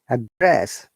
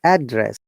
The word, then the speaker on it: address: verb it becomes uh upper intonation and we stress on the first syllable like address how do i address it and when it's noun we stress on the second syllable what's your address okay be careful to